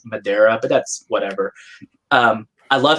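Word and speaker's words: Madureira: phonetically when people tell me as a she pronounce Madera but that's whatever I love his art I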